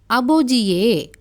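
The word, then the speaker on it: 아버지의: இந்த ஐன்ற இந்த சொல் வந்து ஒரு பெயர் சொல்லோடு சேரும்போது உச்சரிப்பு வந்து ஏவாக உச்சரிக்கப்படும். உதாரணத்தை பார்க்கும்போது உங்களுக்கு விளங்கும். முதலாவது பாருங்கள், அபோஜியே.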